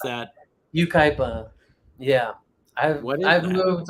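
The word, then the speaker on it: Yucaipa: How do you pronounce that? Ukaipa.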